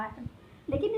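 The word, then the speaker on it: whole: Actually start हम बोलते हैं तो लगता है H से हो रहा है, लेकिन इसमें W क्या होता है, साइलेंट होता है. ठीक है, हम बोलते हैं तो H से लगता है होल, बट स्टार्ट होता है कहाँ से, W से.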